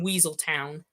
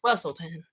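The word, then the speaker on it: Weselton: um evil and upset anytime people called them Weasel Town, and it's pronounced Wistleton.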